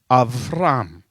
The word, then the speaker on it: Avram: Okay, this is Avram. You've got an Aleph and you've got a Beit without the dot in it, and you've got a Resh and you've got a Mem. Avram is how you pronounce it.